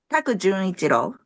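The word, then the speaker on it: Junichiro Taku: So evidently the composer, who is, I hope I pronounced this correctly, Jun Ichiro Taku. Is that right? Taku Junichiro.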